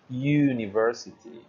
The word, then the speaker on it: university: uh the next one university university that vowel sound is very very close so it's actually considered a semi vowel or a semi consonant um that again has consequence consequences and we cannot say un University that would be very weird so we say things like a university instead so I hope that